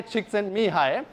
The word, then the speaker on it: Csikszentmihalyi: have somebody from hungaria here can you please pronounce his name correctly me hi csikszentmihalyi thank you thank you this guy studied flow